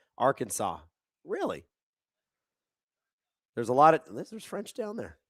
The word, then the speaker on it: Arkansas: Patrick Patatrick says, "Fun fact, the French are the reason we pronounce it that way." Arkansas.